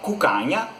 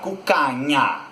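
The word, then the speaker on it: cuccagna: de modo diferente, porque o italiano vai pronunciar cucanha, cucanha.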